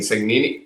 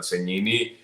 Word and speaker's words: Segnini: Cegnini es la forma correcta en el idioma italiano de pronunciar el apellido, porque la S y la G juntas se pronuncian como ñ.